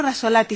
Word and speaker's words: Rizzolatti: pronuncia elisa no ya como raso latino giacomo rizzolatti se pronuncia ya como la sola a ti rizzolatti